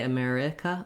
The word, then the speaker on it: America: long they hold them you really want the mare to be long and the others to be short america you want to